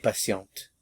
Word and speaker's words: patiente: Elle est patiente. Elle est patiente. Patient, il est patient, elle est patiente. Patient, patiente. Notice the difference.